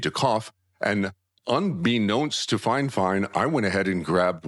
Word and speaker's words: FiFine: The company's name is Fine Fine. Now, it's spelled F I F I N E.